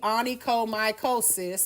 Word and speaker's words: onychomycosis: Because you see onychomycosis. Again, you got the word cis. And oh my is in there.